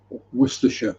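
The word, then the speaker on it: Worcestershire: ketchup and worcester sauce or if you're not putting the ketchup on just worer sauce worersha sauce to give it his correct name or lean pairings if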